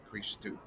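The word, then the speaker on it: Χριστός: c and an h then we have a row the translator is in an r then yoda and this is a new letter that we see now it's a sigma it's transliterated as an s and then a tau which is a t and then again o and you so chris ii all right chris too now what does christos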